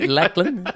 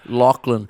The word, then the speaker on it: Lachlan: Lack lackey. Lacklin. Yeah. No, no, no, no. Lachland. People say AI is taking over the world. If AI still pronounces Lachlan Lacklin, a long way to go.